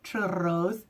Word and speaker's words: churros: So I had mulled wine and we had Nutella covered churros, or churros if you can roll your R's.